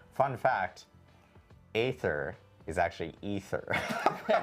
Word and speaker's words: Aether: And then we learned that Canon and Diablo I despite it being spelled AE t, it's actually pronounced ether.